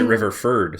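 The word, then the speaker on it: Riverford: cool um i mean i pronounce it river ferd so i mean you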